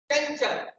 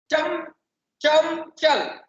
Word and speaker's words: चंचल: दूसरा मैं आपको शब्द आपके सामने रखो, चंचल, चंचल, अब उसको हम चम चम चल, चल चल, चंचल, इस प्रकार से उसका उच्चारण हम नहीं करेंगे।